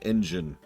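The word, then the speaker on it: Anjean: across the pun there anjan say his name a little bit differently it sounds like engin I had a premonition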